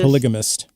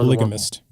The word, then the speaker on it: polygamist: Polygamist. He's going to have multiple wives wanting more. Polygamist.